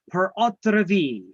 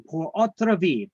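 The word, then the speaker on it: pur autre vie: We could have something called a life estate per autre vie.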